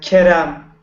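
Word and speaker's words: Kerem: Uh and also I'd like to welcome Karem. Yes. Hi. Hi. Am I saying your name correctly? Karem. Uh Kam. Kam. Uhhuh. Yes. accent on the first KM.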